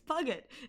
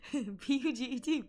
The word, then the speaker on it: Puget: That is the curse of, listen, it's Puget. P-U-G-E-T, Puget. If they wanted it to be Puget, they should have named it P-U-J-E-T. That's Puget. Or at least Puget.